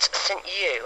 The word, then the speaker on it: St Ewe: today and I'm at St U I don't know if you pronounce it like that but it's um ewe um I found I